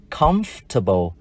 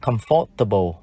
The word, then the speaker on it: comfortable: Và tính từ này, chúng ta đọc là comfortable, không bao giờ đọc là comfortable.